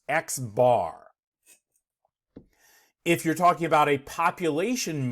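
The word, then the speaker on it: x̄: X with a line over it and that's pronounced x-bar you're talking about a population mean if you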